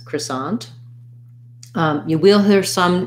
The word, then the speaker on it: croissant: this in american english most standard for american english is going to be cra sonde which is going to have a schwa and an croissant with second syllable stress croissant um you will hear